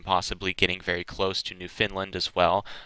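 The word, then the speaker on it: Newfoundland: getting very close to New Finland as well I'm sorry I pronounced it wrong yesterday it's New Finland not New Foundland me pronouncing it literally there but she will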